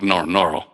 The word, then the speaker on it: Ngorongoro: Yeah, to make it easy to pronounce, I divide it in two and call it Ngoro, and the locals call it Noro, like that.